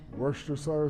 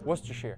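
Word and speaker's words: Worcestershire: Worster sire sauce. You were close. Worcester.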